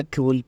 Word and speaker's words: CeWL: यहां पर देखें तो ये कल एज अ कल प्रोनाउंस होता है ठीक है तो यहां